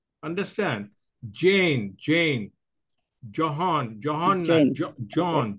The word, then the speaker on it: John: Johan Kennedy was not Johan it is John John j o h n is John okay okay H is not pronounced okay sir so while